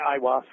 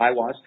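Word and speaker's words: Aiwass: that he said his holy Guardian Angel was IAS is how he pronounced it is that correct oh yeah iwas yeah iwas now H how would one actually make contact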